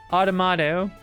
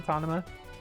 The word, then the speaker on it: Automata: Automata. I always say it wrong. I always get tongue twisted on Autonoma.